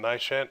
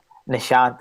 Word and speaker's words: Nishant: the big hter interviews we're starting with and nant did I pronounce that right Nishant n and your last name can you pronounce